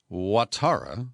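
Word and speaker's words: Ouattara: coast where president alessan watara i think that's how it's pronounced it's spelled o-u-a-t-a-r-a well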